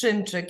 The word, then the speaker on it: Szymczyk: The right pronunciation is Szymczyk.